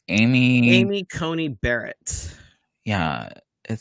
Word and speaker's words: Amy Coney Barrett: um how do you say her name amy amy coney barrett yeah it sounds like a cheap car anyway